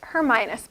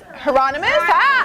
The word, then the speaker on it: Hieronymus: See, you're pronouncing better than harmonious. Hieronymus? Hieronymus. We got it.